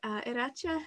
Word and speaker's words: Iratxe: However, I do believe that Iratxe is, and I know I'm still being very nervous about mispronouncing your name, and I hope that wasn't too bad, but are you good?